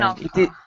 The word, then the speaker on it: Hajnalka: So you guys do not pronounce the Yeah, J. Hajnaka.